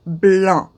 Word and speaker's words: blanc: color white white is blanc b-l-a-n-c a lot of people say blanc you don't pronounce the c it's b-l-a-n pretend the c isn't there so it's i know